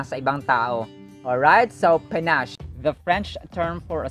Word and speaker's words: panache: Panache. There's a schwa on the first syllable.